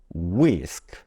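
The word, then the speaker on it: whisk: 알파벳 k는 기업 합쳐지면 wisk 알파벳 W 발음 워크 다시 W 발음워 우와 여기이 발음에서는 한 가지만 체크해 두시면 되죠 알파벳 wh가 보통 h 발음이 소리 나지 않고 알파벳 w만 발음이 된다 이거 하나만 체크해 두시면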